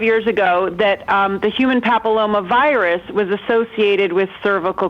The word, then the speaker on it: papilloma: Human papilloma virus, am I saying it right?